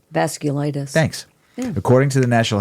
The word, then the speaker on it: vasculitis: clus vas vasus vas glus I think it's pronounced v c u l i t i s vasculitis thanks according to the National Health Council around